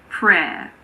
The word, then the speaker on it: prayer: It's silent in the word prayer. Prayer.